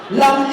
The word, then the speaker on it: lamb: Lamb is spelled L-A-M-B. The P is silent."